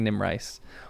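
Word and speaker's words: Erid Nimrais: First pronunciation was correct. Erid. Nimice. Nimrace. Nim rice. I think Nim rice.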